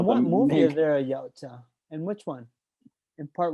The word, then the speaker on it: Yautja: Which, how do you pronounce the band? Yautja.